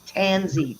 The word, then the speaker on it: tansy: mosquitoes and flies is it tansian organzy it's tansy t-a-n ing rolls are you being a pain